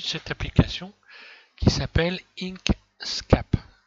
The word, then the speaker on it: Inkscape: Voilà, il s'agit de cette application qui s'appelle Inkscape. Inkscape, ça s'écrit I-N-K-S-C-A-P-E.